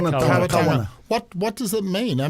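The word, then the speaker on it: Kāwana: How do you pronounce it? Kawana.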